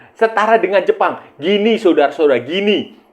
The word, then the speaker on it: Guinea: Gini saudara-saudara, gini. Guinea, tapi bacanya gini.